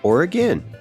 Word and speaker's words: Oregon: And in this episode, the example of Oregon, which I've learned in these interviews is actually pronounced Oregon by the locals.